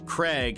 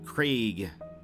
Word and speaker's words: Craig: throughout the English-speaking World in North America it is often pronounced with a short vowel sound Craig as in egg while the British pronunciation uh sounds the diphthong Craig Krieg um this is